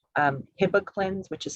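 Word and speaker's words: Hibiclens: to reduce the organisms also things like um hippoclins which is spelled h-i-b-i-c-l-e-n-s hippo cleans it's also called chlorhexidine gluconate but that soap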